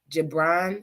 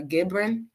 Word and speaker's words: Gibran: very good it's by Khalil Gibran or gibrin g-i-b-r-a-n y'all can pronounce that but this was a